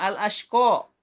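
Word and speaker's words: الْأَشْقَى: Kemudian yang kedua, al-ashqa. Ko-nya jadi di ayun, 2 harokat.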